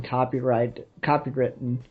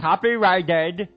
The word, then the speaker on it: copyrighted: that's probably already been copywritten. Righted. God, it sounds so weird. Righted is the proper pronunciation, but it sounds dumb. Copyrighted.